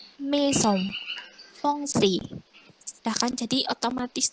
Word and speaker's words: maison: Nah gitu, jadi kalau ada AI tidak usah bingung, langsung, oh kalau A sama I itu dibaca E.